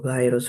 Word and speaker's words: gyrus: gyrus and the angular gyrus, or gyrus for some prefer the other pronunciation.